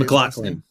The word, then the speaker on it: MacLachlan: But yeah, Kyle MacLachlan, how do you say MacLachlan?